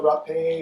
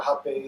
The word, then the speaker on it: Rapé: So Rapé or Rapé, depending on if you're pronouncing it in Portuguese, is a blend of at its most basic.